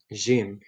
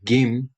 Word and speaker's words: جيم: Jim. In Egyptian Arabic, this is pronounced Gim, but today I'm doing Levantine or Levantine pronunciation, باللهجة الشامية, in the Levantine dialect.